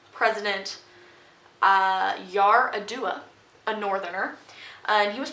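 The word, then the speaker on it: Yar'Adua: look up how to say this name president yar a dua a northerner and he was president and he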